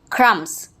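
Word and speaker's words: crumbs: क्रम्स, थम, इसमें B silent रहेगा।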